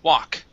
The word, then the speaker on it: walk: Okay, instead of walk, okay, it is an ah sound only. Wah, walk. Walk.